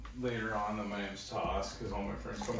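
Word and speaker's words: Thos: come across the good the fifth is toss like and I'll have to explain it like you know that's freaking my real name that's what my parents named me I like it but it's spelled t-h-o-s or short for Thomas yeah I got screwed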